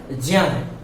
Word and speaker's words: ज्ञ: मित्रों, सही उच्चारण 'ज्ञ' नहीं है, सही उच्चारण 'ज्या', 'क्ष', 'त्र', 'ज्या', 'ज', 'ज', 'ज', 'ज', 'जा ' है, यह 'ज' और 'न्या' से मिलकर बनता है , जिसे आप 'ग्य' कहते हैं। इसलिए ' ग्या' का उच्चारण गलत है, 'ज्या' का उच्चारण सही है।